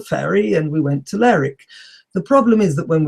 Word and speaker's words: Lerwick: So I went to the ticket office in Aberdeen, and I thought, well, most towns in English that end in W-I-C-K, Wick, are not pronounced Wick, are pronounced Ick.